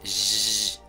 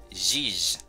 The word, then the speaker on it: jij: Como pueden verlo, no es lo mismo como el sonido J en español, así que tengan cuidado. Eso se pronuncia jij, jij.